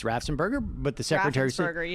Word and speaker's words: Raffensperger: In other words, they were upset that Raffensperger, in many respects, did not act like Kemp